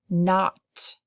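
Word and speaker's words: knot: to have to memorize so an not it has a silent K at the beginning calf has a silent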